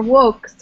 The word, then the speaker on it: Vox: As it's classical, it should probably be Vox. Right. Or wokes with a long O.